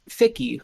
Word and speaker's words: Ficky: Is it Fichi? Because I thought it was that, and I was told that it was Ficky, like rhymes with Mickey.